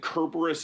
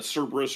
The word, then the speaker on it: Cerberus: footnote to yeah the the main reason I say uh Cerberus instead of uh curus or chorus is because the fact that it went from a hard sound to a sound has always bothered me like that transition I don't know where when or why it happened but it bothers me and I refuse to use it now that I